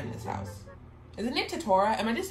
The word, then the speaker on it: Tetora: We stand Tetara in this house. Isn't it Tetora? Am I just saying his name wrong?